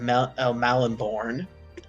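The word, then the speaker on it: Melniboné: morcock uh called uh elric of mel malonborn that's how you say it and in those books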